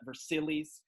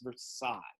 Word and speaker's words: Versailles: the palace of versailles i always have kids pronounce that versilies that's silly kids it's not versilies it's versailles this palace is so